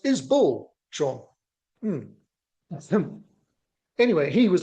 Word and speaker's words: Isbell: fan even though he doesn't know how to pronounce the name and he's going to learn that from this video. It's is Bull Sean him.